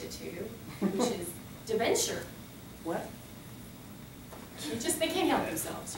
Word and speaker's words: debenture: going to teach it to you, which is debenture. What? They can't help themselves, you know? Just say it again. It just debenture?